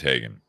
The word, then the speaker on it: Haugen: But you have basically Jeff Hagen, and I had to verify how you say that name because it's spelled Haugen, but I think it is Hagen.